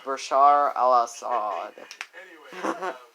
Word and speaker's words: Bashar al-Assad: went with a dictator named Bashar al-assad it's pronounced Bashar al-assad and Tulsi literally kicked his ah and he